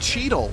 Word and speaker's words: Cheadle: It's just Cheadle. It's like Beetle. It's Cheadle. Just with cheat at the front.